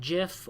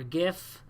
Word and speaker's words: GIF: animated gif that's gif you can pronounce it Jif or gif that'll probably go down